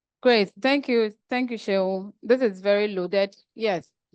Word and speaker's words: Seun: Yes, it's pronounced S-H-E-U-N. Okay. Yes, so it's Seun.